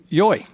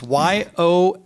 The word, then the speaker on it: Yohe: We have Dena and Tom Yohe. And I think I pronounced it right this time. You did, you got it. Lots of people pronounce it lots of ways. Yohe.